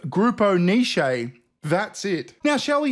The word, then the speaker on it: Grupo Niche: grammy award and he pronounced the winner grupo nish instead of grupo nishi that's it now shall